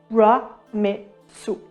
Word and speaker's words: Ramesses: So like a rebus, the name of Ramesses II is read RA-MES-SU.